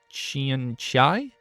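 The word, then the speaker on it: xianxia: It's X I A N X I A Chian Chai.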